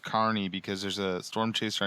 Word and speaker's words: Kearney: One of the largest cities with today's episode's area code is well, most people read it as Kearney, Nebraska, but it's pronounced. I know this is pronounced Carney because there's a storm chaser on YouTube that lives in Kearney, and do they have a carnival?